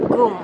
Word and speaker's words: GUM: Jadi itu bacanya adalah GUM.